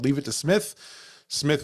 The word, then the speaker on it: Psmith: Smith with a silent P.